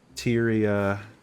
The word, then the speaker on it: Tyia: Tyia. Um, Tyia. Hysteria. Hysteria.